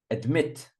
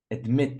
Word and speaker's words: admit: Admit. Admit, second syllable, I think. Not admit. Admit.